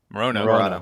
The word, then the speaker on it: Morono: Morono.